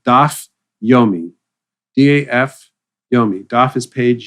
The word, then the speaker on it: Daf Yomi: It's called Daf Yomi.